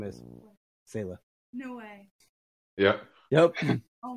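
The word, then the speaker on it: Selah: My daughter's name is Sayla. Spell it. S-E-L-A-H.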